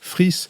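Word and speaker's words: Fries: France Presse qui s'appelle Fabrice friss ça s'écrit fr ri es son livre publié aux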